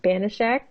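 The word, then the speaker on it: Banaszak: May 11th, 1979, Pete Banashak, did I say it right?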